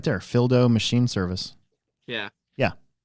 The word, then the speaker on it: Phildo: Phildo Machine Service. Yeah. Yeah. So Phil and then do, but it's like Phil do. Yeah. There you it's go. Pronounced dough. It's profound dough.